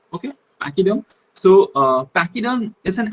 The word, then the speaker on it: pachyderm: it is uh written like p-a-c-h-y d-e-r-n but pronounced as pachyderm okay pachyderm so uh pacquiao is an animal who is